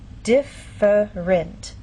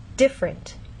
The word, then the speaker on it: different: syllable and down here the word different in very slow careful speech and especially formal speech you might get this pronunciation differerent but often in fast speech you lose that middle sound and you get different so again how do